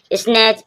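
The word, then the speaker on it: snatch: स्टिच, स्टिच means सिलना, टी के बाद CH आया, टा साइलेंट है। स्नैच, स्नैच means छीनना, स्नैच, स्नैच means छीनना, टी के बाद CH आएगा, टी साइलेंट रहेगा।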